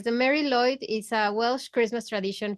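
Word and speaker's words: Mari Lwyd: The W is being pronounced as a oo kind of Yeah, sound, exactly.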